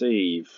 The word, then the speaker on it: et: dépôt, so that's a, as in et, and I always pronounce it e, it can be et, the t probably isn't silent yet, but you get it written without the t as one letter, e.